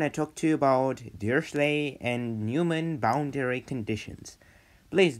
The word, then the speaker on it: Dirichlet: Today I want to talk to you about Dirichlet and Neumann boundary conditions. Please don't be frightened. And I want to point out, I pronounce it Dirichlet, but it's Dirichlet.